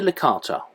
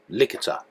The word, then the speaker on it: Licata: We only stayed one night, briefly taking the dogs ashore before heading on again to Licata, or Licata, depending on how you pronounce it, I guess.